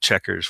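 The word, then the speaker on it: Chequers: I guess they call it Checkers with the QU in the middle of the British whatever formal Queen's English.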